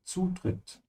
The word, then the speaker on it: Zutritt: Make sure to pronounce it with a D sound. Zutritt. Like cats.